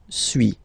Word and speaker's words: suis: Okay, so first one, suis, as you've been noticing, you don't pronounce the final S.